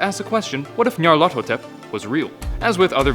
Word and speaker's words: Nyarlathotep: The closest pronunciation I've been able to find is Nyarlathotep.